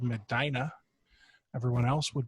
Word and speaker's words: Medina: miss I'm in a nice little city called Medina everyone else would pronounce it Medina but that's not how you say it we